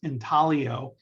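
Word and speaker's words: intaglio: the difference they're both in talio silent g and they're intalio methods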